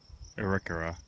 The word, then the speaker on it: Arikara: One of which was the, help me out here Mike, how did they pronounce it? Arikara? Arikara.